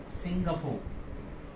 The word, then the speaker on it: Singapore: Stress देना है और इसका सही प्रोनाउंसिएशन होगा सिंगापुर, सिंगापुर। लोग अक्सर इसको गलत प्रोनाउंस करते हैं और वो इसको कहते हैं सिंगापुर। क्या प्रोनाउंस करते हैं? सिंगापुर, जो कि पूरे तरीके से गलत है।